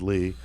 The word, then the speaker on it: Leigh: Yeah, that's how you pronounce it, is Lee.